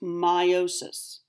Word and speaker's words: meiosis: so that's the problem so this is correctly pronounced meiosis I will be incorrectly pronouncing it to help